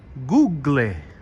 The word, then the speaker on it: Google: Google Google in Italy if you were to pronounce it in Italian it would be googly googly there we go that's how you say Google in Italian googly here we have the